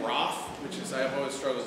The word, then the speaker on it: Ralph: He actually pronounced his name Roth, which is, I've always struggled with. It's Ralph, it's fine by me.